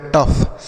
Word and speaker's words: tough: जैसे T से हो गया ट और OUGH को अफ तो हो गया टफ। मतलब इसको लिखना नहीं है, यह जो आ है यह साइलेंट हो जाएगा तो हम इसे टफ पढ़ेंगे।